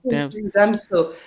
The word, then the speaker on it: Damso: And then the last, I know I keep saying the last word, but the last word is Damso. Am I pronouncing it right? Damso? Damso.